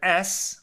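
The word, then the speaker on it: את: The addition of the word es, or et, depending on how you pronounce it, teaches that the prohibition applies also to that which is secondary to the flesh.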